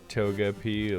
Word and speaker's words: Togepi: You know, I pronounce it Togepi like the Pokemon.